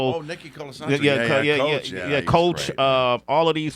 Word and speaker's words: Colasanto: Colasanto. Oh, Nicky Colasanto.